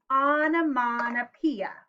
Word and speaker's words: onomatopoeia: to write poems using onomatopoeia there's a big word say it with me onomatopoeia a lot of syllables six syllables so um first of